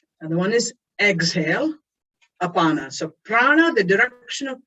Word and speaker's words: apana: That's called apana. Say apana. Apana. So your prana, apana. They nicely rhyme, prana, apana.